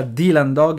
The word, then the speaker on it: Dylan Dog: tutti i lettori che si pronuncia dylan dog e non dailan dog e c'è tutta questa